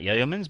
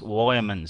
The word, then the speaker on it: Yeoman: I've got news through that I was pronouncing Matt Yeoman as Matt Yeomans, but it's actually pronounced Wyomans.